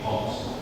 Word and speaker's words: hoax: Bacanya itu hoax, bukan hoax, tapi hoax. Kayak bahasa Inggrisnya rubah, hoax, itu hoax.